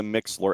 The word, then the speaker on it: Mixlr: Or, he said, what you can also do is you can go to your phone and you can download the Mixler app.